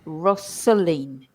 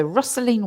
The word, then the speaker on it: rustling: And actually, we insert a sound, so we say rustling, trickling. So we put that. It's almost as if there's an e in there, but there isn't. But in the spelling, but in pronunciation, yes.